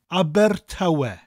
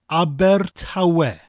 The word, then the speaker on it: Abertawe: Now, Aber is pronounced like the name of the Swedish pop group, ABBA, but with that rolling R sound at the end of the word. Aber.